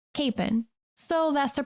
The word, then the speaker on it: Kapaun: It's spelled Kapaun, and there are many who pronounce it Kapaun, and that seems to be a perfectly acceptable pronunciation. But it seems that the people from closer to his hometown, Pilsen, Kansas, pronounce it Kapaun.